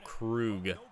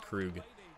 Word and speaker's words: Krug: I still get comments on that video back in 2018 of people correcting me to say Krug, or pronounce it like Krug.